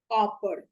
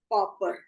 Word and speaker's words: पापड़: जैसे शुद्ध शब्द है पापड़, और इसका उच्चारण कर दिया जाता है पापर।